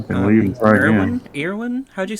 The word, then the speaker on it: Erwin: No, the Dutch pronunciation is Erwin, Erwin? as Erwin, Okay. with emphasis on the R, but not really. Okay. But Erwin works as well.